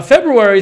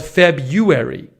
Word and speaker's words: February: febu or Feb R many people dropped the first R replacing it with just what is this I don't know as if it were spelled February so there's February or